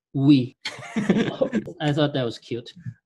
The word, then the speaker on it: oui: i i decided to call this oui which in french it's we i thought that was